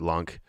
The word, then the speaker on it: LUNC: inu lunic um and some people pronounce it lunk um but i look at it as luna cause it's luna classic so luna c luneck um but yeah he